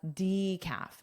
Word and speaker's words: decaf: So, you might have to clarify, "Do you have decaf?" decaf. So, this is that long e, decaf.